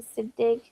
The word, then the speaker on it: Siddig: How do you pronounce his last name? Siddig.